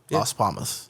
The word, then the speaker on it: Las Palmas: Las Palmas.